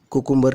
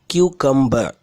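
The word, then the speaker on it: cucumber: ஆனா இது குக்கும்பர் கிடையாது. கியூகம்பர் இதான் இதோட சரியான உச்சரிப்பு. குக்கும்பர் கிடையாது. கியூ கம்பர் இப்படித்தான் இனிமே வாசிக்கணும்.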